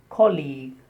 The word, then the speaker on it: colleague: He is my colleague. The stress on the first syllable and the second sound is long E.